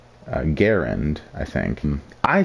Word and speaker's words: Garand: cannot lie now um there is a major argument on how to actually pronounce Grand or Garand what is it uh the designer of this rifle John C Gant pronounces it as Garand I think I say